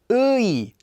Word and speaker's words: 의: Ui, ui, ui, ui. That's how it's pronounced, simply reading the two vowels in order.